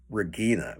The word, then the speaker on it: Regina: this is named uh they say her name is Regina well in American English we would say Regina uh we didn't say Regina but uh they put emphasis on different things in in British English then I noticed in